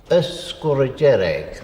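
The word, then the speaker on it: Sgùrr Dearg: the native pronunciation is escorigeric the earth being the there is a glide a or a sound put between uh score and derrick that's very common in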